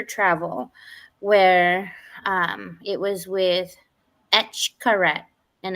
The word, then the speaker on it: Xcaret: There's so many, and she booked us this adventure travel where it was with Etchkaret, and it's spelled Xcaret, and it's pronounced Eshkaret, cenotes.